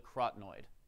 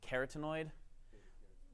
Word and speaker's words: carotenoid: But for carotenoids, you can think of it as carotenoids because they are orange like carrots.